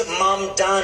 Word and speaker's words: Mamdani: And further, the name is Mamdani. Mamdani.